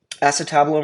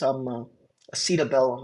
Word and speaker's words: acetabulum: So this is your acetabulum or acetabulum. I've heard people call this acetabellum, and I don't think that's the right pronunciation of it.